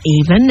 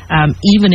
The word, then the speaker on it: AVEN: Munich she is a member of even is that how you pronounce it if I have that correctly and yes as you said even Haven for you I want